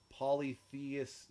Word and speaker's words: polytheist: The term, y'all, is polytheist, not... Polytheist. Polytheist? Like atheist. Oh, So, yeah, we've been saying it wrong.